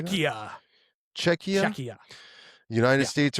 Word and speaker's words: Czechia: Czechia.